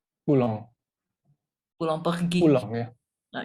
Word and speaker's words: Poulenc: Dan akhirnya Mas Tommy memilih Puleng dan coba boleh sedikit diceritakan nggak kenapa memilih Puleng? Oh Pulong, dia itu bacanya Pulang.